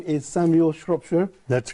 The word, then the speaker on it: Shropshire: by introducing my guest your name is Samuel Shropshire that's correct pronounce that correctly and you are the founder